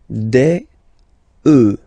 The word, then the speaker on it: œufs: Then, un œuf, des œufs. Okay, and we'll make the liaison here to make it sound more beautiful.